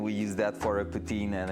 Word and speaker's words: poutine: Like our really like Quebec-based meal is poutine, like just like you will pronounce the president of Russia, I guess, but like it's way better than him.